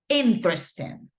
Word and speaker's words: interesting: pin right the um the stress or the accent let's say goes in the first syllab okay interesting interesting book okay great